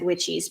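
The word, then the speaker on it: Wyches: think it's pronounced twice I've always said whichis but I've had a few people told me that's wrong but it's spelled w YC h es and that is my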